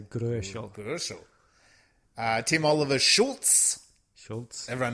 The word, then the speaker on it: Gröschel: See, good thing I've got a German here tonight, so we can actually because it's an O umlaut, so it's you can pronounce it a bit like an OE, so Gröschel.